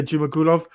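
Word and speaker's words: Zhumagulov: and entertaining fights in Jaglas, how do you pronounce the last name? I was Jumagulov? Jimagulov, yeah. Yeah, Jumagulov.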